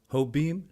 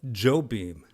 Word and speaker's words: Jobim: like that by Antonio Carlos ho beam no Joe beam yes got to get those pronunciations right lest we offend the